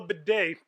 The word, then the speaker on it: bidet: __ ] install a bidet then yo i want one yeah yo that's the way to go i don't know what people are talking about it may sound gay because it rhymes with bidet but no it go